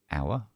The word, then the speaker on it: hour: Yeah, we have an H as well, but we don't say it.